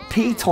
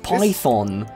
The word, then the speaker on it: Python: Piton? Whoa. It's pronounced Python. It's Python, okay, whatever.